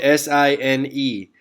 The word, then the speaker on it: sine: all right it's spelled s-i-n-e now it's abbreviated s-i-n but when you read that even in your mind please do not say sin because that's not how it's pronounced in geometry in or in mathematics